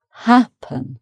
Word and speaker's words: happen: And another E, happen. So the stress is on the first syllable, happen. Okay.